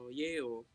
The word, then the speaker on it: Iwo: So, yun lang yung, parang silent I. Mhm. IWO, Iwo, Yeo.